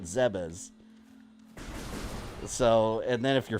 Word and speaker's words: Zebes: know how to pronounce I grew up calling it zebs a lot of people did too but in game they actually name drop it in Other M with voice acting and they call it zebas so and then if